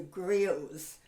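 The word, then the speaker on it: griot: french went to africa they called them the grills that's a strange word it's spelled g-r-i-o-t so we are going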